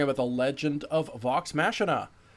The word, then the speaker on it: Machina: What is the pronunciation? Machina. Machina. Like Dave's ex Machina.